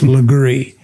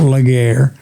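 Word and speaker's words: Legare: Burmy, the first thing we got to teach you how to do is how to pronounce Leree." He said, "It's not Lair.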